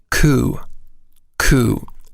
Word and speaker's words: coup: their outlook on life ku ku it's a noun and i'll spell it it's c-o-u-p with a silent p it means a personal